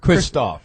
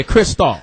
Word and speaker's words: Kristoff: a a malt liquor how you say it Kristoff St John Kristoff yeah yeah Kristoff you had to be like with that almost like pissed off Jam don't don't don't